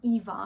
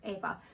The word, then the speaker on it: Eva: My name is Eva, but because I live in England, people call me Eva even when I tell them no, it's pronounced Eva.